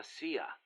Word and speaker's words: CIA: here they say la sia instead of c.i.a huh um nothing strange about it that's how it's pronounced when you read it in spanish it has the feminine